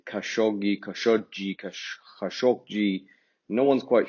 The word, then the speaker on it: Khashoggi: So if you just remember that this is a hard G and that's a soft G, you're 50% of the way there. So it's actually Khashoggi.